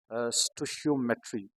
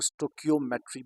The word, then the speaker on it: stoichiometry: topic का नाम है स्टो शयो मेट्री इसको या तो स्टो शमेट भी प्रोनाउंस कर सकते हैं या बाज लोग इसको स्टोक मेट्री भी कहते हैं डजन मैटर आप इसको